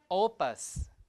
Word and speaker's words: opus: But in the other side you have the stress uh in the first word on the first syllable opus. Opus is like work magnum opus like uh big work like that. Opus is work right? Opel the stress is o opal like that.